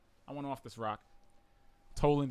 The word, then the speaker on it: Toland: went off this rock Toland his trolling it rhymes with trolling and I really liked